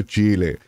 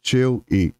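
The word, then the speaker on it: Chill-E: va a molestar pero técnicamente la manera real de pronunciarlo es Pablo cheu son un Charo ahí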